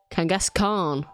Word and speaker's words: Kangaskhan: Kangaskhan. Kangaskhan. Like Genghaskhan.